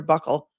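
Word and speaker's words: buccal: call it Buckle swab apparently there's two appropriate def uh pronunciations you can say bule or Buckle I prefer Buckle so thank you for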